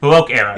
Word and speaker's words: Baroque: Well, Terry Gilliam likes old age, basically, I believe it's called I'm going to pronounce it totally, the Baroque era, the B-A-R... Baroque era.